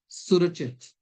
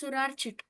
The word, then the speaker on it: Surit: Clear up to this it's surachit. Clear? Clear sir. Aranika straight. Actually you uh just uh told my name wrong sir. I'm telling again. It's surit.